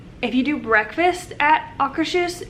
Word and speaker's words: Akershus: Alright, so it's called Akershus. Okay, that's how I thought you'd say it.